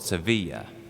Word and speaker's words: Sevilla: in many different languages in Spanish it's called Sevilla in English it's sevil it's the capital of